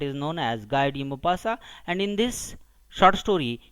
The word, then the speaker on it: Maupassant: So actually the spelling is Maupassant, but it's a pronunciation, its utterance is Maupassant.